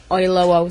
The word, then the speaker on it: Oyelowo: Oyelowo.